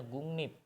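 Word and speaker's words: 국립: bagian ini yaitu gungnip ingat ini bacanya gungnip gungnip Kenapa dibacanya gungnip nanti ketika ada bim bim apapun nanti R akan dibaca n nah jadi NIP kamu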